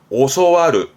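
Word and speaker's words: 教わる: 이때 발음은 오소와르, 오소와르.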